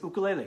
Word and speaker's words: ukulele: to the ukulele carts i said ukulele yes that's how you say it in hawaii the ukulele carts and